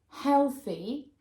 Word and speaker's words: healthy: Whereas if you look at healthy, there are two syllables, and the stress is on the first syllable.